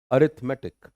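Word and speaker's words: arithmetic: भी बोल सकते हैं अरथमैटिक अरथमैटिक बट राइट प्रंसिएशन दैट इज अथ मेटिक अरथमैटिक रथ पे जोर है अरथमैटिक अरथमैटिक मैटिक नहीं है।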